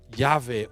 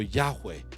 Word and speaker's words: Yahweh: Y tradicionalmente se pronuncia Yahvé o Yahweh, aunque no hay absoluta certeza.